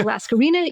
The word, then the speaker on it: Laskarina: It rhymes. I say Laskarina, you say Bouboulina.